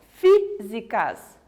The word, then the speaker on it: físicas: então vamos tentar entender hábito e físicas são palavras que eu pronuncio mais forte a antepenúltima olha só físicas hábitos então são palavras